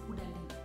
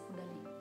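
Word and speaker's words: Caudalie: In my other video, I mispronounced this one. I called it Kudali, which is not Kudali. This is Kudali.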